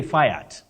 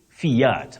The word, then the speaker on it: Fiat: particular then particulate particulate Fiat don't say fat Fiat and then watero watero